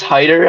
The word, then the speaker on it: Hyder: I believe it's Hyder, actually. Really? I just said Hitter.